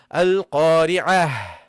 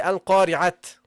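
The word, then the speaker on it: القارعة: Or it is pronounced as a ha when you stop. Okay? Yes? Like you say, Al-Qari'ah in the Quran. Mal-Qari'ah. You see, you have to pronounce the ha. Al-Qari'ah. I didn't say Al-Qari'at.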